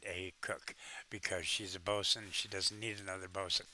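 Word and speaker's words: boatswain: Uh the Bosman, otherwise known as a a Bosen. Uh, it's pronounced, it's spelled Bosewain, but it's pronounced Bosen.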